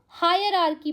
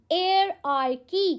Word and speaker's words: hierarchy: कितनों ने इसको हायरआर्की पढ़ा है? हायरआर्की, जो आप हायर वाला प्रोनाउंसिएशन लेके आते हो ना, ये गलत है। इट्स एयर वाला प्रोनाउंसिएशन, एयरआर्की। क्या बोलेंगे? एयरआर्की।